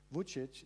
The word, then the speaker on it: Vučić: and think also Alexander Vučić in Serbia. Is that wrong? Did I say his name wrongly? No, it's perfectly fine.